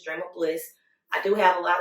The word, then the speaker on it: Drem@ Bl!ss: But my name is Drem Bl, but you got to spell it a certain way. It's DREM and the @ and then it's BL exclamation point and 2 S's, Drem Bl.